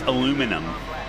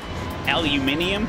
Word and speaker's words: aluminum: see you man how do you say aluminium it's pronounced aluminum aluminum aluminium it's way too many syllables been doing HPD at